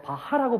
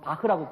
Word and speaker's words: 바흐: 저희가 어렸을 때 바하라고 불렀던 바로 그 사람. 나중에 발음이 틀리다고 해서 지금은 바흐라고 부르죠.